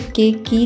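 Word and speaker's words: cake: तो हम इसे के की नहीं बोलेंगे। इसे बोलेंगे केक।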